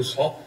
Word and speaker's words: 续: 、续杯，那要怎么读呢？他就不信了，他就觉得不是读少。我觉得还是应该读少少。